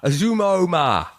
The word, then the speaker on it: Uzomah: Azuma. How do you pronounce it? That's right, isn't it? What? Azuma. Did you say Azuma? Azuma.